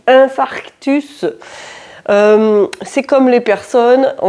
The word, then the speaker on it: infarctus: Beaucoup de personnes le prononcent infractus. Vous avez déjà remarqué ça ? Et des fois ça me démange de leur dire, on dit infarctus.